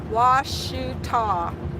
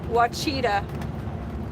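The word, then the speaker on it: Ouachita: Washita. They did misspell it, Kevin. When I first saw how they spelled it, I thought it was Wachita.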